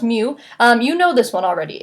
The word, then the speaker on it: mu: the Pokemon it is a Greek letter it's pronounced mu you know this one already it's the average